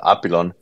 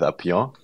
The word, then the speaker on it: Apillon: name is pronounced uh apilon uh which is basically a combination of apis and the French word for butterfly Papillon so you were quite on the right path with upion but we we kind